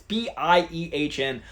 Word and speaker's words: Biehn: It's not like Sean Bean. It's Biehn.